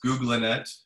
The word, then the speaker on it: GoogLeNet: some definite innovations in googlenet and it is pronounced googlinette because yan lacoon was part of the the